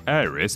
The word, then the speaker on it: Aerith: as our sweet darling Aerith, or Aerith if you want to get different pronunciation about this, was brutally murdered by all-round knobber Sephiroth, and you know what?